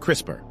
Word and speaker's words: CRISPR: In 2012, two scientists, Jennifer Dodna and Emanuel Sharpentier, discovered Crisper. It sounds like a kitchen appliance, but it's more like Photoshop for DNA.